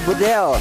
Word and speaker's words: Bedel: mahasiswa Turki dia bilang, Bang Kornet bacanya bukan Bedel. Jadi? Tapi E-nya dibaca semuanya E.